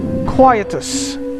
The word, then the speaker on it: Quietus: this completely wrong but it's spelt as qu i t i us we always pronounced it as Quietus I'm not sure that's